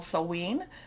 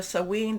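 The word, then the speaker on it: Samhain: also in what's called sewen there's different pronunciations i think i'm doing the scottish pronunciation of this but we can you know you know there's different celtic celtic type of pronunciations so sewing this is what a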